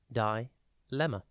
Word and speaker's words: dilemma: It is pronounced dilemma and spelt D-I-L-E-M-M-A. Think dill, D-I-L, and then the name Emma.